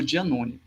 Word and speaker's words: Giannone: podemos falar do precária e do Jean no giannone dia None nessa não não a pronúncia mais italiana o dia Zone Então hoje nós vimos um pouco sobre a